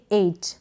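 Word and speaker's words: eight: इसको आप पढ़ेंगे 8। क्या पढ़ेंगे? 8। EI को ए करके रीड कर रहे हैं और T को ट, और GH का उच्चारण नहीं हो रहा।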